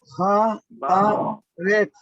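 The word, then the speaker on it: הארץ: Entonces, Haaret. Haaret. Exacto. Haaret. Haaret. Recuérdense que esta es una sade y cuando va al final se pronuncia con TS.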